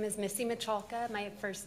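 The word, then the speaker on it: Miculka: My name is Missy Michalka. My first name is spelled M-I-S-S-Y, last name M-I-C-U-L-K-A.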